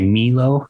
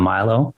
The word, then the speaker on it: Milo: And then people also mispronounce it a lot. They say Milo instead of Milo. Never heard anyone pronounce. Were they just doing it on purpose though? No. Well, like Spanish speaking cultures, the I is pronounced as an E.